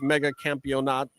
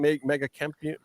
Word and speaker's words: Mega Campeonato: the shape of the Mega Campeonato. How do you say it? Mega Campeon. Mega Campeonato. Nato, thank you.